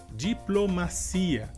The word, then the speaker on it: diplomacia: Em português seria diplomacia. E a diferença seria que em espanhol a sílaba mais forte seria ma e em português a sílaba mais forte seria si.